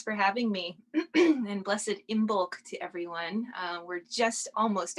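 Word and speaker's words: Imbolc: know it's actually pronounced emok the bee is silent if you're speaking in old irish which is where that word comes from um but yeah so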